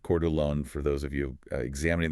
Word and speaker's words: Coeur d'Alene: But then, you pull the local data for Coeur d'Alene, Idaho, and it's pronounced Coeur d'Alene for those of you examining this market from the outside, and the reality on the ground absolutely shatters that national narrative.